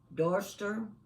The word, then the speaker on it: Dorchester: We would probably call it Gloucester. We would call Dorchester, we would call it Dorchester. But that's not the way the English pronounce those names.